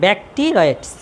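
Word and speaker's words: Bacteroides: হ্যাঁ ব্যাকটেরয়েডস ফ্লাজেলিস, ওর উচ্চারণ হচ্ছে ব্যাকটেরয়েডস। সালফিনজাইটিস। এন্ড্রো, ওটা এন্ড্রো। এই যে আমি বানান লিখে দিচ্ছি, দেখে দেখে লেখেন। এন্ডোমেট্রাইটিস, ব্যাকটেরয়েডস, ভেঙে ভেঙে উচ্চারণ করুন, ব্যাকটেরয়েডস।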